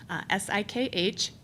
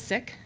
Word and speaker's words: Sikh: says both pronunciations but what I learned from our friends with the standards is that it is sick and when we the